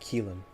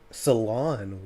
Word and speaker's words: Ceylon: And what about Ceylon? Or is it Keelan? Oh, is it Keelan? What? Ceylon. Wow. I said it completely wrong. Darjeeling, Ceylon, and Assam.